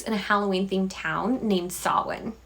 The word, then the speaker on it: Samhain: It takes place in a Halloween-themed town known as *brain short-circuiting on pronunciation* Samhain not Samhain, you idiot. It takes place in a Halloween-themed town named Samhain!